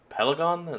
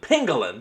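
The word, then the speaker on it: pangolin: Looks like it's maybe based around the pel uh pelon. No, that's not how you pronounce it. The uh armadillo cousin pengalin. That's it.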